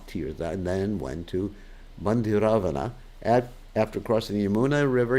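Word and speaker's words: Bhandiravana: So in Bandiravana, Bandiravana, Ravana, not Ravana. Bandiravana. I have to be careful. We pronounce these words.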